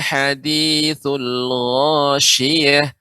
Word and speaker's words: hadithul ghasyiyah: Untuk pengucapan huruf H, ya, Ibu harus perhatikan, ya, apakah Ibu sudah membaca sebagaimana yang saya baca, yaitu mengucapkan dengan huruf H, ya, H, kemudian Shin. Hal ataka hadithul ghasyiyah, ghasyiyah.